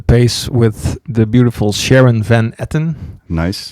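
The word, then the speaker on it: Van Etten: with the beautiful Sharon Van Eton nice it's a beautiful Dutch name pronounced in English yeah I was going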